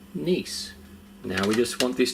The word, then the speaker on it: Nice: using nice and no it's not pronounced nice it's a brand pronounced nice now we just want